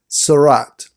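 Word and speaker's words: tzara'at: and you want to translate that you can spell it t z apostrophe a r apostrophe a t sarat and it is a physical malady who has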